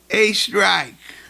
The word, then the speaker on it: Oestrich: Ladies and gentlemen, the preseason episode number two with the Oakville Tiger head boy soccer coach Brad A. Strake.